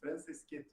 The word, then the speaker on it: Franceschetto: É italiano, imagina, sem problemas, é Franceschetto.